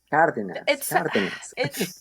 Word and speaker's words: Cardenas: Cardenas.